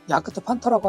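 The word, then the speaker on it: Jagdpanther: 어쨌든이 자드 펜저 탱크라는이 이름이 독일식 발음으로 야크트 판터라고 하는데이 앞에 있는 야그트 요거는 사냥이라는 뜻이고 펜서 이건 표범이죠.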